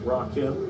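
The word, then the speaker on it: Rakim: catch that's rockim jar that's why I want it pronounced by the way like r a rockim not like rock Ro clarification how about this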